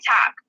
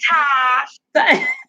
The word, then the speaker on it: Tosh: Every time I see it, I'll be like, Todd. I don't know why I pronounce his name Todd. Hey, Tosh.